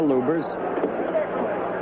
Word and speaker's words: Lubbers: Ali against Rudy Levis or lubers it's pronounced both ways bluebirds is probably more technically correct anyway it's the way Rudy wants it said you know lubers keeps those gloves up